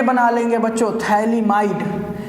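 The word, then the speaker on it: phthalimide: Reaction का नाम है बहुत ही फेमस रिएक्शन है गैब्रियल थैलेमाइड रिएक्शन। इसमें पीए साइलेंट है भाई। पीए नहीं पढ़ना है।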